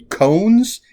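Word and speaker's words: koans: got a bunch of old cones is how i pronounce it k-o-a-n-s which are for lack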